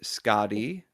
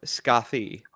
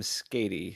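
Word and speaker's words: Skaði: And the Norse pronunciation is either Skadi, Skardi, or Skathi, depending on Skardi makes a lot how it's terms of related.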